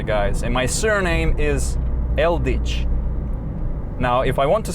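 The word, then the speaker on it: Eldič: real name actually guys and my surname is eldich now if i want to spell that for you so but e-l-d-i c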